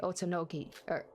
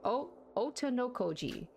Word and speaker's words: Otonokoji: The only person who already knew Hibiki's tendency to lose her memories is you, Kanade Otonoki. I totally butchered her last name. Otonokoji.